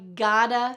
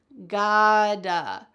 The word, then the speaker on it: gotta: Notice the pronunciation of the T's. Gotta, gotta. Oh, it is not gotta. Instead, the T is changing to a D. Why? Because there are vowels on either side. Gotta.